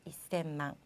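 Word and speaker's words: 一千万: 우리가 천자를 생이라고 배웠기 때문에 셈망이라고 읽고 싶지만 얘는 조금 다릅니다. 자, 어떻게 읽어야 하냐면요. 앞에 이라고 붙여야 돼요. 그래서 이셈망이라고 읽으셔야 돼요. 이셈망.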